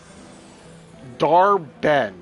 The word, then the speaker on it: Dar-Benn: Dar-Ben, and it's spelled Dar-Benn.